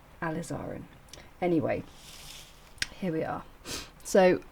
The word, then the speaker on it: alizarin: and Crimson um oh I said it right the other day lizin Crimson because a very clever lady on the comments said think about lizard um so you might